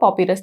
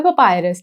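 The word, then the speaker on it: papyrus: Point number 1 इज कि हिंदी में लिखा हुआ है पॉपिरस, तो यार इसका जो एग्जैक्ट प्रोनाउंसिएशन है वो है पपायरस, ठीक है।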